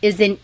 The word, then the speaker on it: isa: Then the letter I is an E sound.